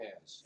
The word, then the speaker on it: Ahaz: But he says that although Ahaz, how do you pronounce it? Ahaz.